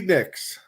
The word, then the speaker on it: Nicks: which is funny because her name just rhymes with mix a little bit and that's uh Stevie Nicks oh this is gonna